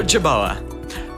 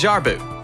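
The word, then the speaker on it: jerboa: through so it counts oh yeah it's the jaboa what no it's not a boa it's actually pronounced as jar boo jar booze are little tiny hopping rod ants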